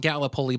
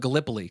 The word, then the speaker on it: Gallipoli: sure that I knew that it was not Gallipoli but Gallipoli cuz I'd never actually heard it pronounced before Oh god Bless You mrs.